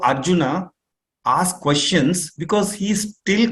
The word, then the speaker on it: Arjuna: the time Arjuna now children don't say original water no no it's Arjuna uh thank